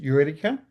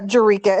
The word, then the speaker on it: Jurica: Is it Yurica? Uh Jurica, it's my last name.